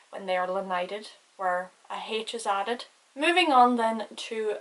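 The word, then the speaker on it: áthas: I would pronounce it like ahis. So see how I put a lot more emphasis on the first A because it has the Fada than the second one.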